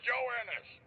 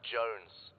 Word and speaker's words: Jones: Private Joannis. Joannis? Joannis? Where the hell are you, sir? For the millionth time, my name is pronounced Jones. Jones.